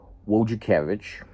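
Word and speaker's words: Wojciechowicz: But the Alex Wakavich, um that's not necessarily how you would first try to pronounce that last name, but that's what it is.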